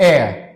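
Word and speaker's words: heir: so starting of with the chapter ही वास just a teenager when ही died the last एयर इसको हेयर मत पढ़ लेना this is नॉट हेयर alright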